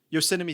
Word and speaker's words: Yosemite: Yosemite Sam? Yeah, Yosemite Sam.